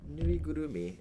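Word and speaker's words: ぬいぐるみ: Oh yeah, nuigurumi is how you say stuffed animal in Japanese.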